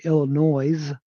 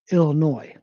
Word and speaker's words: Illinois: So it's, you know, a lot of people say Illinois because that's how it looks, how it's spelled, but the S is silent. So it's supposed to be pronounced Illinois.